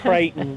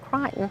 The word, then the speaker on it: Creighton: i love that we we pronounced it creighton but it's cricketing around here that that's only here that it's called crying you go anywhere else in the country and you'll hear creighton but yes they pronounced it crichton they did and they